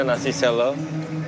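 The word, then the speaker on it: nasi sela: Dan kalau kita lihat di sini ada tulisannya nasi selo, tulisannya sela tapi bacanya selo.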